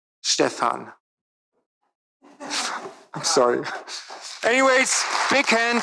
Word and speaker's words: Stephan: It's the in German the second syllable is long, so Stephan.